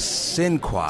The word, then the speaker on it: Sinqua: Ladies and gentlemen, the man who plays Don Cornelius on American Soul, it is Sinqua. Sinqua. Sinqua. What does that mean? So Sinqua is the French pronunciation of Sinqebi, and Sinqebi was the king that led the slaves to the Supreme Court for freedom.